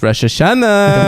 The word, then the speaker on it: Rosh Hashanah: why do you say it like that it's Rosh Hashanah why isn't it spelled Rosh Hashanah why is it spelled Rosh Hashanah it's spelled Rosh Hashanah Rosh Hashanah good job